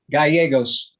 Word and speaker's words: Gallegos: theft and it's jolene what's the last name gallegos g-a-l-l-e-g-o-s i believe i'm pronouncing it correctly the person that i first